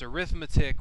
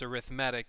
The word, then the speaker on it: arithmetic: Now, the word is arithmetic, but it's arithmetic when you're using it as a noun, and it's arithmetic when you're using it as an adjective. So I'm not mispronouncing it when I say arithmetic. That's the way you say it when it's describing the sequence.